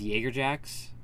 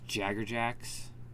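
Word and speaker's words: Jaegerjaquez: Jacker jacks which is why I don't understand why it was never pronounced Jaeger jacks because it's literally spelled Jaeger I don't it's so weird that it was jaggerjacks there was well there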